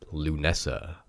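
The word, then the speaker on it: Lughnasadh: is on August 1st it is spelled let me just clarify this l ugh na s ADH yes that does spell loo Nessa in retrospect absolutely it does my modern English brain does not read it as Lou Nessa anyway Sam weena Bell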